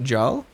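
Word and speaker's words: Gjall: been a little while g is silent so it's pronounced Jal is it Jung am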